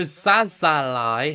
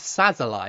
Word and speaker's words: Szalai: n to Hungary so sazal has scored I think it's szalai isn't it not saz like I've been saying I'm really like I